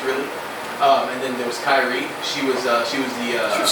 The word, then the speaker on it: Kairi: It's Kairi.